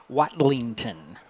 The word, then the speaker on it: Watlington: yeah number 21 who's let me let me pronounce his name properly this Jord watlington watlington w a t l i n g